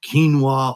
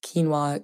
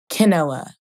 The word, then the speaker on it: quinoa: Also, it's kind of controversial too because quinoa can be sometimes said as quinoa, which is wrong.